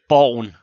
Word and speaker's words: Borgen: TV show, which I'm going to mispronounce as Borgen. How do you pronounce that? Borgen.